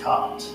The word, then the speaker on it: quarte: parry of cart, or really the parries of cart, or court. It's pronounced cart, but it's spelled court, and it